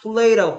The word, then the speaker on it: play: L은 L답게 소리 내야 되는데 왜 R처럼 소리를 내냐고. pray는 기도하다다 이놈아. 기도하다. 어? 기도하냐고 묻는 거냐? 노냐고 묻는 거냐? play라고 play는 play답게 발음해야 될 거냐? 네. What does Dana play? What does They don't pray. 줘봐 또 R 소리 넣는다. Pray 이러잖아. 또 완전 버릇이야. 버릇. Play. Pray가 아니고 Play. Play.